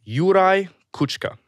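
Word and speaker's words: Juraj Kucka: do you say his name his name is yurai kuchka and this is an audio of him and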